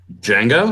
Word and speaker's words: Django: I'm just now thinking of freaking the Quentin Tarantino film with the D is silent. Django?